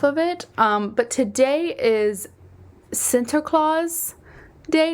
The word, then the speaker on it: Sinterklaas: It was Sinterklaas, which sounds exactly the same, but I swear is spelled differently.